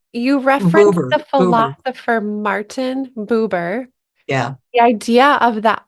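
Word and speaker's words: Buber: you referen the philosopher Martin how do you pronounce his last name Boer you referen the philosopher Martin boober yeah the idea of the I thou relationship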